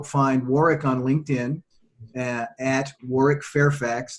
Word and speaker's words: Warwick: You can also find Warwick on LinkedIn at Warwick Fairfax. That's with the silent W in the middle, WARWICK, Fairfax.